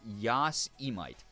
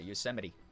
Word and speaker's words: Yosemite: I pronounced it Yosemite. A lot of people say like Yosemite or Yosemite or Yosemite. Yeah, a lot of people have done that. Yeah, Yosemite. Like Yosemite Sam.